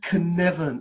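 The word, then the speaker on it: Cynefin: environment and it's pronounced connection it's a welsh word i'm not welsh but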